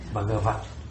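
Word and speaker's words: Bhagavat: Então você pode falar v, é a única exceção que uma sílaba acaba com uma consoante, é no fim, posição final absoluta e mas ainda você tem você tem que pronunciar brava. Ó, você articulou, mas não sonorizou. Bagava. Bagavat.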